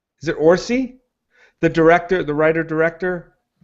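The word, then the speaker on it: Orci: like too cartoonish plus orsi rhymes with horsey and yes and we're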